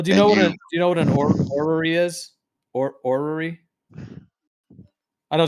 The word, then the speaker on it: orrery: Well, do you know what an orrery is? Orrery? I know it's kind of a strange word. It's like O-R, like the way it's spelled. It's basically orrery.